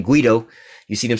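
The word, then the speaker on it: Guaidó: One of these damn puppets that one of my other subscribers, put me up on how to correctly pronounce his name, Guido.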